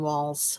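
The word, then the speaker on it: Walz: Just happens to be the state where Tim Waltz is from. Did I say his name right? Tim Walls. I put a T in there. There's no T.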